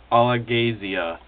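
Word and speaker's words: Alagaësia: The setting of the book is in a place called, there's a pronunciation for it in here, I think it's Augustani, Angus, one sec. Alagasia.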